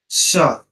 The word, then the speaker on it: chat: Kanape, Osio, Was the Mezzo, the cat, sir, what is the pronunciation of cat? Sha. Sha, Sha, the last one is sir, Velo.